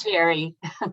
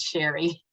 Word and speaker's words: Cherie: It's Sherry. Okay. It's spelled Cherie, but it's pronounced Sherry.